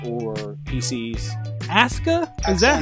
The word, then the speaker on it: Asuka: Wii 's or PCS ASA is that how we're saying it w is doing one thing right because Japanese pronunciation you never pronounce the you okay but is Asa that's Asuka yeah I can't wait